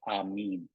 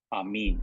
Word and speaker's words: amen: that that is an Aramaic but it's not pronounced amen it's pronounced am me you notice at the end of the the prayer that I spoke for you uh I said uh am mean that was that's actually what what the word